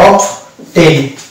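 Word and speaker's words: often: দেখেন এটা একটা শব্দ, এখানে দুটো উচ্চারণ করতে হবে, অফ টেন, বি উচ্চারণ আসবে আবার ট আসবে, অফ টেন। এই যে অফ টেন, এখানে ট ব দুটো উচ্চারণ আছে, যদিও বিটি পাশাপাশি থাকে।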